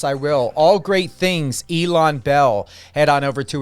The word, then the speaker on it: Ilan: I kept saying Elon, but it's Ilan. You honestly, everybody pronounces it differently, and you got both of the main pronunciations. So it all works for me, like I said.